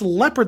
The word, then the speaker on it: leopard: so you would just it's got Leo in the thing leopard who can again pronounced leopard that doesn't make any sense so I don't know